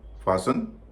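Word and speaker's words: fasten: ऑफन सोफन लिसन फासन wrestle bristle कासल चेसनट मॉगेेज अब हम जानेंगे कि इन शब्दों में टी साइलेंट क्यों होता है।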